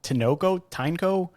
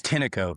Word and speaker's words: Tineco: Is it Tyneco? How is it? Yeah, it's Tineco.